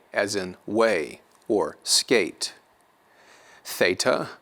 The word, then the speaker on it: Theta: in way or skate Theta will be pronounced like a th in English or Throne THS in Throne then we have Iota